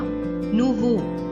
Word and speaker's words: nouveau: Now the second example here, nouveau. Now again the ending is EAU. So we'll remove the EAU and we'll add ELLE. And the pronunciation goes like nouveau, nouvelle.